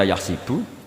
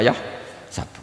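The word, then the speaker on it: يحسب: Karena dalam qiraat sab'ah ada yang baca yahsibu, qiraat kita baca yahsabu. Tapi guru-guru kita kalau ngajar fikih itu bacanya yahsibu. Tapi kalau baca Quran yahsabu. Ya kan Quran kita kan ayah sabu Allah yaqdiru alaihi ahad, bukan dibaca ayah sibu.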